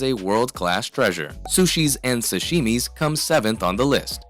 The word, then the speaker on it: sashimi: but Wayne and dairy keep mispronouncing it omitting the letter H this causes Old Dan to have a panic attack as he attempts to gently repeat it the correct way in his pluralized paradise